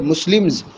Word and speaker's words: Muslims: ساتھ جو خبر ہے مسلمز اس کا بھی جمع ہونا ضروری ہے. ایم کے بعد اگر ایس آئے تو اس کا تلفظ زا ہوگا.